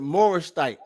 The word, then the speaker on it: Morashite: called the man a Morashite. He was called a Morashite, or some people pronounce it Morashite.